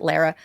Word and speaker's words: Lara: and look at the Laura Trump thing again. I want to be sure. But yeah, I don't remember it, to be honest. He gave Lara Trump, I think she pronounces it Lara.